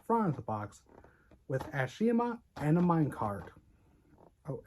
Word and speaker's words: Ashima: long version of Ash Ashima not asima Ashima God I hat God